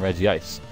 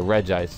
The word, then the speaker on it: Regice: Rock Reggie steel and Reggie ice or regg ice is how you pronounce it I think but I don't care